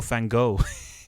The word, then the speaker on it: Van Gogh: Yeah, of course I like Salvador Dali, Matisse, and Van Gogh. Oh yeah, because Yeah. we call him Van Gogh here, Yeah. or Van Gogh. Yeah. That's what they call him over in the Dutch.